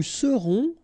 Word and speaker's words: serons: Nous serons, so final S not pronounced, then on, on, seront.